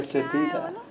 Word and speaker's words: quesadilla: जो भी है यार, What मैं is the पेश actual कर दूंगी आपके pronunciation? सामने। इतने प्यार से बोला है। Quesadilla.